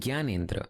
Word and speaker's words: Gyanendra: Like, ri is rish, but then gi is gyan. So it's Rishabh and Gyanendra.